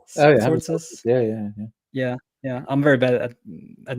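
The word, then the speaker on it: Tzortzis: Sortzes? Sortzes? Yeah. I'm very bad at names, and I'm sorry for mispronouncing.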